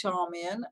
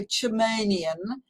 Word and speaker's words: Charmian: that people ask my name, I'll say it's Charmian, and they'll go Charmanian, and I will correct them.